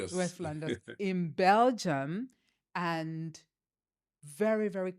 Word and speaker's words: West Flanders: Fllanders I'm not I'm not sure if I'm pronouncing it correctly that's correct West Flanders yes West Fllanders in Belgium and very very conservative area.